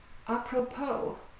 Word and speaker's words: apropos: Apropos. By the way. The final S is silent.